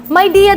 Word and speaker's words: Mya: so Nagtanong ako dati maya media mya daw ang tamang pagpronounce nito nagtanong-tanong ako Ano ba